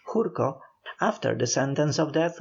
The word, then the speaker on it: Gurko: of Poland the celebrated General gurko who is of Polish descent and whose name properly pronounced is the Polish jurko after the sentence of